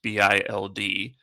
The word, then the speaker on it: Bild: Actually, while we were potting, a report came out from Bild, and that's pronounced Bild, that says, let me translate this because I always get the ones in Arabic.